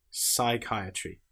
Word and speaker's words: psychiatry: Here we don't pronounce the P at all. We just pronounce the S sound. Psychology, psychiatry. The P is completely silent.